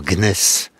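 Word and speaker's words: gneiss: sont finalement transformé en gnness ce que j'ai bien prononcé tout à fait tout à fait ça s écrit G n e I 2 S tout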